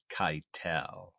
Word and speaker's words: Keitel: Before I give you what the reasons why, I need to correct a pronunciation. That is Harvey Keitel.